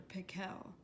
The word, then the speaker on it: Pickle: Actually, his name was Dr. Pickle, with the accent on the second syllable.